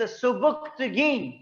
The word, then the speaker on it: सुबुक्तगीन: उसने कहा यहां पे एक मुसलमान बादशाह की हुकूमत है राजा साहब, हिज नेम इज सुबुक्तगीन। जी, बोलेंगे सुबुक्तगीन, लिखेंगे सुबिक्तिगिन, याद रख लें स्पेलिंग के लिए इसके, सुबिक्तिगिन।